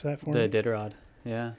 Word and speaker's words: Iditarod: Can you pronounce that for me? The Iditarod.